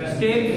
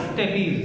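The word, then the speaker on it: stapes: कौन सी होती है, स्टेप्स या स्टेपीज, जैसा भी आप प्रोनाउंस करना चाहें, ठीक है।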